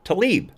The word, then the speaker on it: Tlaib: I can never pronounce it right. It's spelt Tlaib, but I believe it's pronounced Tlaib. And she put the Democrat finger on the pulse of America, and I'm quoting.